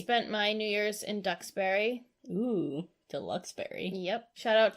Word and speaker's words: Duxbury: I spent my New Year's in Duxbury. Ooh, Deluxeberry. Yep. Shout out to my Ducks peeps. Quack, quack. It's funny because it's not spelled like ducks.